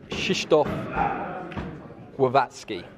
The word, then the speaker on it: Krzysztof Głowacki: pronunciation of lawrence's opponent so from the horse's mouth it is shishtof wavatsky and inga i hope